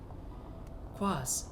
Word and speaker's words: quaz: Quaz, a noun, both singular and plural, referring to anything strange, incongruous, or peculiar. At its heart is the unknown, the mysterious. It rhymes with Oz.